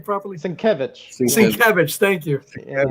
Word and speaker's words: Sienkiewicz: Sinkovich. Sinkovich. How do you guys always pronounce his name properly? Sienkiewicz. Sienkiewicz. Thank you. Yeah. I always say it wrong. I have the wrong emphasis on the wrong syllable.